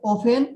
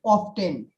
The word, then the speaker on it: often: American said often, but British said often. Here, American is silent T.